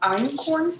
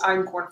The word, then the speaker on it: einkorn: And what I'm going to use today is actually called einkorn flour. So einkorn flour, it's spelled E-I-N-K-O-R-N.